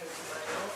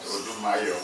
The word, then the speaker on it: Odimayo: My name is Odimayo. I'm treasurer with the IA Foundation. Is it Odumayo? Odimayo. Odimayo. Odimayo. Precise pronunciation.